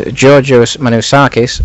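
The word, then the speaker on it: Giorgio Manakis: his name wrong uh he did give me some assistance this week in pronouncing his name and it is Georgio manakis and I really hope that's correct because if it isn't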